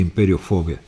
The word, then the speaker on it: Imperiofobia: Esse aqui, que é uma obra-prima, Imperiofobia, em espanhol pronuncia Imperiofobia.